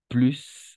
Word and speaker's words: plus: Plus, on va prononcer plus. Plus je comprends, j'apprends, pardon. Plus j'apprends, plus je comprends. Sans le S. Pourquoi? Parce qu'elle commence par une consonne.